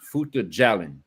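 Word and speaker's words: Fouta Djallon: But a minute ago, when we were talking about the caliphate, I put in the chat, and it's pronounced Futa Jalin.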